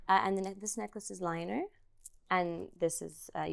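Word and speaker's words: Lyner: the this necklace is liner and this is a y as well it's not how you say it liner I think so I always oh my God I say like linear yeah I mean it's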